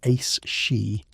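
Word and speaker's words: aos sí: They were the ali, pronounced roughly as ace she, which translates simply as the people of the mounds.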